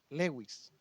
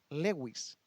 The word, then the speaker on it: Lewis: un hombre llamado Lewis se pronuncia así cs Lewis Lewis Bueno este hombre decía